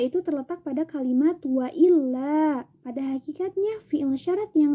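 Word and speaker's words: إلا: Boleh membuang fi'il syarat jika fi'il syaratnya itu terletak setelah in yang masuk ke dalam la an-nafiyah, sehingga dibacanya itu tidak in la tetapi illa, nun sukunnya itu dibuang.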